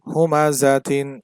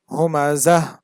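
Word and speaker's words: هُمَزَةٍ: দুই জের তিন হুমাজাতিন এখানে থামলে হবে হুমাজাহ একবার আমি পূর্ণাঙ্গটা উচ্চারণ করছি যেটা বানান করলে যেটা হয় প্রথমবার আমি পূর্ণাঙ্গ উচ্চারণ করেছি বানান করলে যেটা হয় যেমন হুমাজাতিন তারপরে হচ্ছে থামলে যেটা হয় সেটার উচ্চারণ করেছি হুমাজাহ দুই জবর ওয়ালা হরফে থামলে এক আলিফ টেনে পড়তে হয় তবে গোল তা এর উপর দুই জবর থাকলে সেখানে থামলে কোন টান হবে না বরং সেটা হা হয়ে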